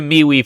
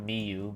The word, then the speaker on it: Miwi: It's called Miwi. Miwi. Not Miu. Miwi. Miwi. Miwi. Yeah. told me how to pronounce it during the ad read. It says pronounce you pronounce it miwi.